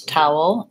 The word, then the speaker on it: towel: towel and tower Tao they both have the same first sounds which we I call that bow ow in IPA it looks like this Tao whoa first I have a dark L there so there's what we were just talking about in the ble incomparable at the beginning of class we still have the UH sound tower er I just